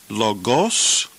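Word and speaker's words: λόγος: an acute accident so when we pronounce this word logos or logus logus because the accent occurs over the first syllable now let's look past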